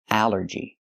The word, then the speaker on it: allergy: But here it makes the a sound. The short a like in apple and black. A allergy. It's three syllables. Allergy. The stress is only the first syllable.